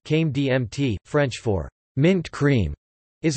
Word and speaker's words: crème de menthe: Crème de menthe, pronounced Came DMT, French for mint cream, is a sweet, mint-flavored alcoholic beverage.